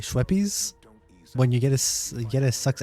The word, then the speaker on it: Schweppes: Schweppes is so cute is how you say it.